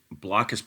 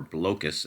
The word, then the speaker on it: Blokus: going to be reviewing blockus portable or blocus as I think it's supposed to be pronounced uh this is